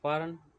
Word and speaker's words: foreign: Now, next is a foreign, G is silent.